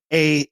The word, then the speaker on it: Fahey: It's Fahey.